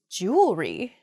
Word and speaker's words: jewelry: that word mispronunciation uh where the word kind of gets a little bit smooshed together uh and we say jewelry instead we miss that that second e sound in there it should be jewelry uh